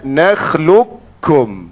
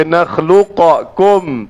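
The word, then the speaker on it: نخلقكم: Jadi bacanya nakhlukkum. Tidak ada baca nakluqakkum.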